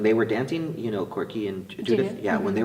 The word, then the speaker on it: Korke: Korke and Judith.